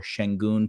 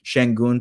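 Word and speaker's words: Şengün: main players you're seeing sangon pop off right now or shenon pop I'm sorry I do the Turkish pronunciation shenon pop off uh because of the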